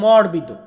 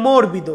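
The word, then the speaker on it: morbido: একটা জিনিস নরম এই নরম টাকে বলা হয় মরবিদ মরবিদ মানে হচ্ছে নরম বনেকে আমরা বলি মর্বিদ বাট সঠিক উচ্চারণটা হবে মরবিদ মরবিদ মানে নরম নরমের পরবর্তী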